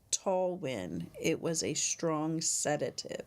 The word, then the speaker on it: Talwin: Oh, it's pronounced Talwin.